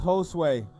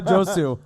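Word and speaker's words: Josué: yeah Ben Allen whoo it's pronounced Josue yeah not just Josie not Josie Josue hosts wait mr.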